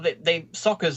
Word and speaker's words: Sokka: Yeah, well, Sokka's name is pronounced Sokka, and Uncle Iroh is pronounced Iroh.